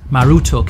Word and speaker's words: Marduk: the city of Babylon Marduk is the name commonly associated with the deity in modern times however it was actually pronounced maruto in Babylonian scholars believe that this